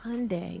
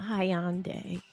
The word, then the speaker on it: Hyundai: It's Hyundai, not Hyande. Is it Hyundai or Hyundai? Hyundai real stuff. What about that Y? So you're saying the Y is silent?